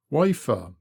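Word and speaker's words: Wayford: up we come to wafford bridge pronounced locally wafer here the master bar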